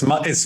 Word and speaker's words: Matthijs: And how do I pronounce the Matt? Is it Matthijs? Okay. Matthijs? Yeah, it's Matthijs.